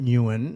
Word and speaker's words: Nguyen: Newan is the western pronunciation of it. I actually can't pronounce it in the Vietnamese heritage because I lost that ability at a young age.